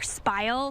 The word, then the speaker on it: spile: We're going to take our next tool is going to be our spile. Kind of rhymes with smile, just with a different letter in the middle.